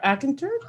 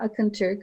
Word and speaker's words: Akinturk: at atkinturk welcome dr akinter thank you very much barbara you did great it was the proper pronunciation thank you and hello everyone uh good afternoon uh my name is akanterk and i'm originally from